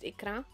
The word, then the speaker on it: Ikra: there we go ikra I know it writes iqba but I've understood last season that it's actually pronounced ikra and if I remember